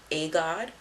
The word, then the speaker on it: Aegaud: So, her Instagram is called Agod, and it's spelled Aegaud.